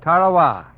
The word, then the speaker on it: Tarawa: in the mid Pacific called Tarawa that pronunciation incidentally is from the National Geographic society that Island will never